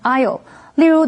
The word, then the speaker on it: Isle: 这一篇文章的第一个重点，我们看 Isle 这个名词。Isle 是指岛屿，注意它的 s 是不发音的，念成 Isle。例如 The couple spent their honeymoon on the Isle of Arran off the coast of Scotland.